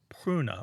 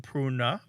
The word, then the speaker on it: pruna: what a road but and that word was pruna Martha how's my pronunciation on Latin it's p r u n